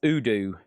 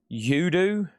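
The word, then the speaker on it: U.D.O.: UDO is pronounced Udoo. Udu.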